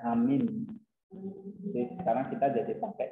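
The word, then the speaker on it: ἀμήν: Vocabulary kayak misalnya ya ada ini kan masalah lagi angelos angel artinya malaikat ya atau messenger lalu amen nah modern Greeknya bacanya amin jadi sekarang kita jadi pakai namanya amin ya.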